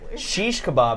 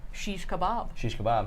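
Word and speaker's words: shish kebab: is ninja kirby says sheesh kebab is actually the correct pronunciation of it there you go sheesh kebab and you can actually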